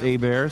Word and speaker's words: Hebert: My name is spelled Hebert. It's pronounced Hebert, so Kyle Hebert.